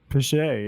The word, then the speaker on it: Piché: We're joined by Piché. That's correct. That's how you pronounce that, Piché? Piché, yeah.